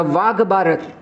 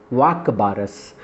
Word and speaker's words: वाक बारस: वाघ बारत से या वाघ बारस कहने के लिए वाघ बारस से इसका प्रोनाउंस जो संस्कृत उच्चारण है वो है वाक बारस वाक का मतलब होता